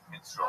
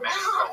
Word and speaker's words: minstrel: Also, if you want to do a bit about minstral shows, make sure you pronounce it minstrel and not menstrual, which is how you are pronouncing it.